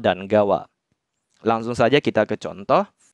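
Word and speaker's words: 川: Tolong diingat ya minasang, kalau kanji sungai berdiri sendiri dibacanya Kawa.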